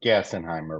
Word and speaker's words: Gassenheimer: in Irving Texas and your last name is pronounced gassenheimer right correct there you go all right I'm